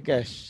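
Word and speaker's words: cache: স্যার এটার উচ্চারণ কি হলো স্যার সি এটার উচ্চারণটা কি স্যার ক্যাচ ক্যাশ স্যার ক্যাচ জি স্যার এটা সরাসরি হবে না এটা ক্যাশ নো ক্যাশ ওকে ওকে স্যার না ক্যাশ না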